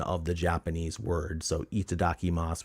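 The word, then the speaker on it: いただきます: the Japanese word so itadaki Mas would be like it D whatever you just read it like syllables e Dau and then you got to know stuff like that last youu is off like silent almost and some of the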